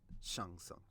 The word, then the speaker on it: Shang Tsung: Shang Tsung. I know how to pronounce his name correctly. I'm not Really? going with that American butchering.